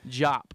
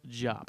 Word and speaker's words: Diop: that's what was happening jop by the way pronounced jop I don't he shouldn't